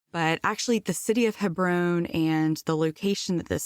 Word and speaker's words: Hebron: for my entire life anytime I have seen h-e-b-r-o-n in the Bible I've pronounced it Hebron and so today if I mess up and get on a tear talking about Hebron forgive me for 38 years I mispronounced it